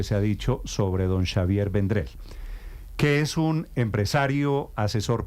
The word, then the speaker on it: Xavier Vendrell: radio Don Xavier vendrel Qué es Catalán pronuncio bien su nombre perfecto Xavier vendrel no Javier no noend Xavier vendrel muy bien Xavier vendrel es uno